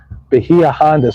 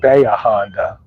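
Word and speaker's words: Bahia Honda: We went just north of Key West at um Beia Honda State Park. That's how it's spelled. But the people, locals, everybody there calls it Beaonda. Behind State Park. But either way, it's not wrong.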